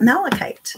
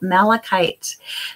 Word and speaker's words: malachite: Now, I'm wondering if I should, read a little bit about malachite, the properties of malachite.